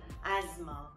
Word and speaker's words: asthma: Alright, and another very common one is the disease asthma, which we just pronounce the th as it is, so I'm sure you've heard its regular pronunciation.